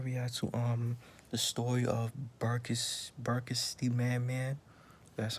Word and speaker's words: BERKSTMANMAN: Yeah, I'm gonna react to the story of BERKSTMANMAN. That's how you pronounce it.